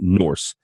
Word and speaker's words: Norxe: It's spelled Norxe, but you pronounce it Norse.